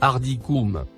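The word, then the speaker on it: أرضكم: Le mot en surbrillance jaune, se prononce, Ardikoum.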